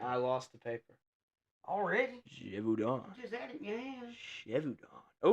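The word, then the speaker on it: Gévaudan: Gevaudan. Oh, yeah. Beast of... Say it again. Gevaudan. Gevaudan. How do you spell that?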